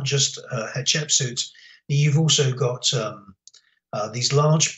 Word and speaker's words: Hatshepsut: Hatshepsut. Hatshepsut. Yes. The way that you remember her name, is you remember it as hot chicken soup.